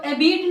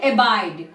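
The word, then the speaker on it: abide: एबीड नहीं पढ़ेंगे, नॉट एबीड। इसको हम क्या पढ़ेंगे? एबाइड।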